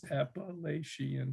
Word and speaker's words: Appalachian: So I started writing a series of tankas, and the first line of every tanka is Appalachian, because it's got the right number of syllables. Appalachian, 5 syllables, right?